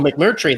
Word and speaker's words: McMurtry: Oh, McMurtry, like One Flew Over the Cuckoo's Nest.